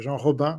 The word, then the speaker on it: Jean Robin: Robin hello guys yeah you can say John roban but since it's a French pronunciation you can call me